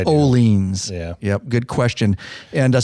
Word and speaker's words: Orleans: video and stuff because I always said Owens yeah so did I before you educated me then I started yeah paying attention to their actual um language social media and videos that all leans is putting out and they pronounce it oleans yep I still get lazy on it sometimes but it's oleans yeah yep good question